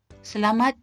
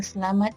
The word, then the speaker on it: Selamat: Off we go to the manner of pronouncing Selamat tengah hari. If you remember from the previous lesson or I Learn Malay Unit 1, notice that I pronounce se, not si or se or say.